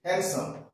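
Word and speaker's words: handsome: জে তাহলে দেখা যাচ্ছে এই যে হ্যান্ডসাম এইচ এন ডি ডি এর উচ্চারণ কিন্তু নেই হ্যান্ডসাম হ্যান্ডসাম তারপর ডব্লিউ ই ডি ওয়েট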